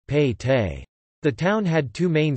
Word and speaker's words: pete: Within the fort, the town was divided into smaller divisions, each called a Pete, Kannada pronunciation, Pei Te.